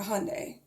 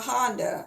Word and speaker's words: Hyundai: high high I had a Hyundai yeah a Hyundai not a Honda a Hyundai but I